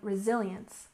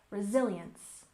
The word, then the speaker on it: resilience: important for personal growth and next we have resilience with stress on the second syllable resilience resilience and this is a kind of mental